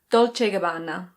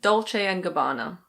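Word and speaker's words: Dolce & Gabbana: In Italian it's something like Dolce e Gabbana. Dolce e Gabbana. But in English we say Dolce and Gabbana.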